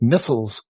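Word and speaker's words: Nestlé: remember that in Europe, it's actually pronounced Nestles. Nestles? Really? Not Nestle.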